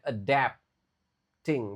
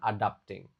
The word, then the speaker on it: adapting: If I continue learning and adapting, nah ini cara bacanya adapting, bukan adapting.